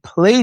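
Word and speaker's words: PLAI: Play. Yeah. U. And I use it inside of my community. And what Play does is you put your you put your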